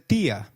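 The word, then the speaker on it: día: Did you notice that dia has an i marked with an accent? In Spanish, if a word is marked with an accent, then that syllable receives the stress.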